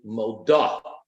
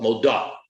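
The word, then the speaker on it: מודה: For a woman to be grammatically correct, she would have to say moda, not modeh, but moda. The punctuation, the vowelization under the letter Dalet would be different.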